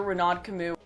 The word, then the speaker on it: Renaud Camus: The Great Replacement is a term coined by French writer Renaud Camus. Oh yeah, that's how you pronounce the name.